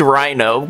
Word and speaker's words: RenoGG: This was made by RenoGG. RenoGG. RenoGG. Reno. Sarah Reno. Please, dude, it's pronounced Rhino. Please.